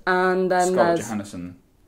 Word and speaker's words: Johansson: Scarlett Johansson. I love how you say Johansson. I thought that's how you say it. Johansson. Yeah. Like Johansson Sebastian Bach or... Yeah. Right. Okay. Wait, isn't it? No, it's Johan.